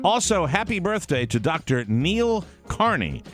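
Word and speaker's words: Neel: Well, it's Neil, just an odd spelling. N-E-E-L is Sure.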